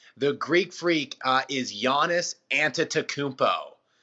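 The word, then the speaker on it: Antetokounmpo: a tough one the Greek freak is yiannis anta to Coombe po anta takubo is how you pronounce the last name yiannis fairly easier on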